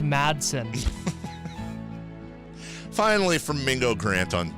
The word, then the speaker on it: Madson: you're butchering my name that badly Mingo it's pronounced Madson finally from Mingo grant on untoward at Mingo